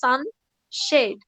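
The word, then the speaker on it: sunshade: হ্যাঁ this is নট সানসেট, this is সানশেড।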